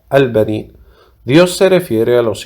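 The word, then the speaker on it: البنين: En cuanto a la palabra en árabe, al benin, que en español se pronuncia al benin, Dios se refiere a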